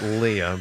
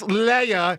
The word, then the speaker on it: Leia: Yeah, her name's not Leah, but what is it? Leah. Leia.